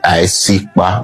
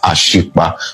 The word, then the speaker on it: Isikba: The A will be silent and the I will be the beginning of the pronunciation of the word. So you say Isikba, not Ashikba.